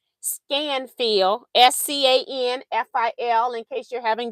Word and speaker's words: Scanfil: I just want you to see it in case I am not pronouncing it right. Scanfil, SCANFIL, in case you're having difficulty reading that.